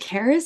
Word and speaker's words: Carys: Uh, is it Caris? Is that how you say your name? Yes. Yeah, you pronounce it right first time.